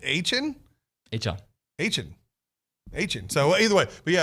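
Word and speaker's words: Achane: He was on here with Bronny, and he said it's A-Chain, and now it's A-Chain.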